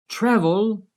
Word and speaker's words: travel: Which syllable is stressed when I say travel? Travel. Yes, the first syllable is stressed, the TRA. Travel. The last syllable with L at the end is not stressed.